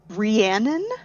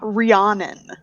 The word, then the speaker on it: Rhiannon: Rest assured, it is Rhiannon, not Rhiannon. Yeah. But it has that O sound. I really want to pronounce that O.